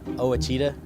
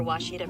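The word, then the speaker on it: Ouachita: Uh, I've heard people say Oitta. Oahita. Oitta. Is it pronounced Oita? Searching for Washita Baptist University.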